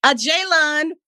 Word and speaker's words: Ajalon: fraternity at Paul Quin College in Dallas Texas a jayon Washington did I say it right yes you